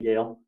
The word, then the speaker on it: Gayle: visible so please welcome the lovely and delightful dale to today's program i hope i pronounced that name correctly gail yesterday you did yeah i hope i pronounced